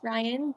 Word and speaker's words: Ryien: p y and then my name is spelled r y i n it's pronounced Ryan but it's just a